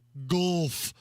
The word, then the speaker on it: Gulf: in middle school that really wanted us to enunciate the U. Gulf. Gulf. Gulf? Gulf. How the hell do you do that? G-U-L-F, which is how it's spelled. Gulf. It's not like putt-putt golf.